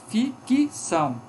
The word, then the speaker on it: ficção: Nós temos aqui em ficção, nós temos esse C aqui pronunciado como uma vogal, ficção.